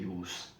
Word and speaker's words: use: जब ये वर्ब के तौर पे इस्तेमाल होता है तो उस वक्त इसकी प्रोनाउंसिएशन यूज होती है, और जब ये नाउन के तौर पे इस्तेमाल होता है तो उस वक्त इसकी प्रोनाउंसिएशन होती है यूज।